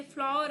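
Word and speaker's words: flour: अब ये फ्लावर है, जिसका दूसरा कोई प्रोनाउंसिएशन करना नहीं है आपको, इसे हम फ्लावर ही कहेंगे। फ्लावर आप फूल को कहते हो ना, बस सेम वही प्रोनाउंसिएशन यहाँ पर है।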